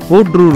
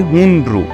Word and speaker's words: হুন্ড্রু: হুড্রু জলপ্রপাতের আসল নাম হচ্ছে হুন্ড্রু। আমরা সবাই চলতি কথায় উচ্চারণ করে করে এটাকে হুড্রু বানিয়ে দিয়েছি।